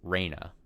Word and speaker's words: Rena: Rena, the one I've been saying Rena, the member of the club, little girl Rena, should be pronounced Reyna. And then the stepmom character that has now been introduced should be Rena.